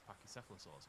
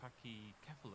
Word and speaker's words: Pachycephalosaur: Covered is actually focused on these Pachycephalosaurs, although they keep saying Pachycephalus.